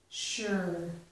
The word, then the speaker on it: sure: all right be sure so this um s here Su is making a sh sound sure be sure to arrive